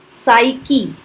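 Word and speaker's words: psyche: P silent, साइकी, साइकी, साइकोलॉजी, साइकी मतलब आत्मा, मानस।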